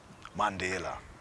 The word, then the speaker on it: Mandela: And Nelson Mandela, Nelson Rolihlahla Dalibunga Madiba, Mandela, that's how it's pronounced, Mandela.